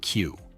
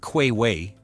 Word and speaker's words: queue: That's Queue, pronounced like Q. It's not quay-way, as many learners say.